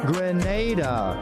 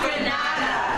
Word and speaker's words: Grenada: So today, like we Germans say, we are in Granada. But I heard in English it's called Grenada. Say it right. Grenada. Say it right. Grenada. That's right. Grenada. There we go. Say it right. It's not Granada.